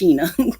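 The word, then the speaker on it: Shana: it's about it's felt like Shayna but it's pronounced Sheena okay okay that's it okay I just want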